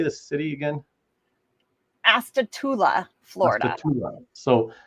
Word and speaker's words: Astatula: Astatula, Florida.